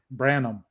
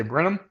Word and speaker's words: Branham: all but that's okay how do you say it branham it's branham what did i say brenham something like that i said rt brenham